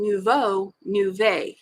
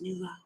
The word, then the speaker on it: nouveau: She was doing a double wedding ring and she was pronouncing nouveau. As it was just so cute how she was doing it. And then I think somebody corrected her and said it's nouveau.